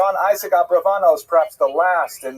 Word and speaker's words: Abravanel: Oh, I should mention, by the way, many people pronounce his name Abarbanel, and that's because of the, it's much easier, as Stephen says, it's much easier to rhyme the song to the name Abarbanel, if you know what I'm talking about, right, with Schlock Rock version of Abarbanel, but it's most likely pronounced Abravanel or Abrabanel.